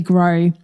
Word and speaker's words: Gros: talking to today's guest Lily gray her last name is spelled ger OS because it's French yep she's the first